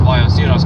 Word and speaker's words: Ballesteros: But anyway, no, but I was going to say, Ballesteros, it's pronounced Ballesteros because in Spanish, a double L is pronounced as a Y. Or more like an I. More like an I/Y.